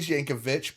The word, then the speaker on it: Yankovic: I think it's really Yankovich, but we Americanized it to Yankovic. Well, he's American though. But like I think the real pronunciation of the original pronunciation of the last name is itch.